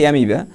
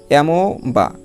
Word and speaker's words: amoeba: তারপর দেখো AMOEBA এটার উচ্চারণ হচ্ছে অ্যামিবা। যদি আমরা এই রুলসটা না জানি তাহলে আমরা উচ্চারণ করবো কি এমো বা এরকম উচ্চারণ করবো যে এমো বা না।